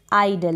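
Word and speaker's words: idle: दल हो गया आइडल यहां पर शुरुआत में जो आई है ना इसको आप ही नहीं पढ़ रहे हैं आई प्रोनाउंस कर रहे हैं आइडियल का मतलब नितल या जो निकम्मा होता है आइडल उसको बोलेंगे आइडल फिर है यहां पर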